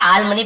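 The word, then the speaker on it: alms: ठीक है, आर्म्स से आल मनी पढ़ेंगे, एल साइलेंट होता है।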